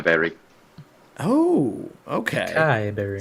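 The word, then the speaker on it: açaí: It's acai berry. Oh, okay. Acai berry. So you say acai. I hear some people say acai. I hear acai. I hear all these pronunciations.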